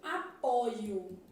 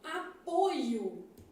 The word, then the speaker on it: apoio: aqui ó é aberto quando eu falo apoio que é um substantivo esse o aqui é fechado então apoio o o é fechado só pra gente aproveitar